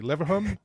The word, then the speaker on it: Leverhulme: Oh my gosh, this one I don't know how to pronounce. You have to help me. Leverhulme?